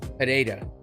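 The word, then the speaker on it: Pereira: Apparently, there's no H sounding in his name. It's an R. So, Pererira. There you go.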